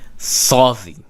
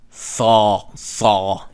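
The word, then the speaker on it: Tsadi: Saudi. Saw. It's close to the back of the throat, but not quite there. Saw. It's like me saying caw. Okay? Saw. Caw. It's like a crow.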